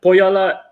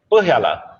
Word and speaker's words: Põhjala: A lot of people asked you this a long time, but Põhjala is not 100% correct. How do you spell? How do you say the right? Põhjala.